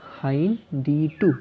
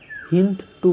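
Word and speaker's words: HindIII: এর উদাহরণ হচ্ছে, প্রথম যে রেস্ট্রিকশন এন্ডোনিউক্লিয়াস এনজাইম পাওয়া গিয়েছিল সেটা হচ্ছে হাইন D2। কীভাবে উচ্চারণ করলাম? হাইন, ডি আলাদা, টু আলাদা, এক লিখবো হাইন্ড, হিন্দ টু বলবো না কিন্তু, হাইন D2।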